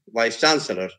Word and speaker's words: vice chancellor: i i met the vice chancellor of a university so vice chancellor so their vice is is secondary stress vice has secondary stress chancellor has the primary state so vice chancellor then